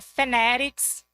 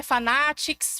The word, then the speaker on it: Fanatics: Eu trabalho na Fenerics, é Fenerics, respeitem, tá? Não é fanatics, Fenerics, eu gosto dessa pronúncia bem afetada assim.